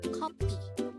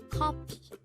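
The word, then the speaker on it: 커피: The Korean term for coffee is kopi. Again, it's kopi. It actually sounds like coffee itself. And this is pronounced as a two-syllable word. The first syllable is ko, and the second syllable is pi.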